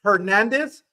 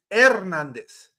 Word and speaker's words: Hernandez: No, you don't pronounce the H. It's a silent. Oh, H is always silent. That's why it's not Hernandez. It's Ernandez.